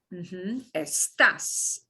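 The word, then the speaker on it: estás: they will be estoy estas and we have to punch the last syllable that's why you see an accent mark is and estamos if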